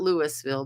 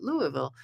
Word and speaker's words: Louisville: glad you can join us and Julie from Louisville Kentucky notice I know how to say that I have really dear friends living in Louisville not Louisville but Louisville Kentucky I'm told that's how you know if